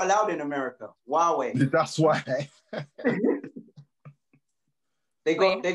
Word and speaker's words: Huawei: not allowed in america huawei that's why they got they got um it's a chinese brand isn't it oh how do you spell that um it's like hawaii yeah it's like the white well i heard of